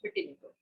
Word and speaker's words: vitiligo: So doctor, do talk to us more about the medical condition vitiligo. Did I pronounce it correctly? Yeah, vitiligo.